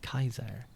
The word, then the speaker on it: Caesar: the C sound so J Julius Caesar name was actually pronounced like Kaiser and I would assume